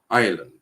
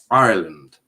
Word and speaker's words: Ireland: ireland right um you need to pronounce the r ireland ireland ireland oh i just